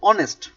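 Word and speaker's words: honest: বাট যখন আমরা বলবো অনেস্ট, দেখো এইচ এর উচ্চারণ এখানে কার মতো হয়েছে? ও এর মতো হয়েছে, এখানে কিন্তু এইচ এর মতো হয়নি।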